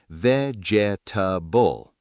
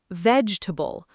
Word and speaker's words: vegetable: The real pronunciation is vegetable. 3 syllables, not 4. That middle E, the one right after the G, just disappears completely in natural speech.